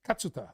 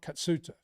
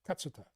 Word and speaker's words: Katsuta: And I learnt that his pronunciation is Katsuta. It's not Katsuta. It's Katsuta.